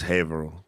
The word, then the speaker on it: Haverhill: For people that are listening on the home game, when you come to camp, the sign is going to say Haverhill, but it's Haverhill. Just get used to it.